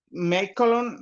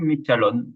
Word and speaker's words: Michalon: O seguimos con el maestro Mecolon. Por favor, díganos su nombre correcto. Por favor. No sé, no puse pronunciarlo correctamente. Sí, Michalon, así es. Gracias.